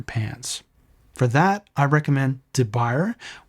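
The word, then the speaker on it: de Buyer: For that, I recommend De Beyer, which is pronounced De Boyer, or Matfer.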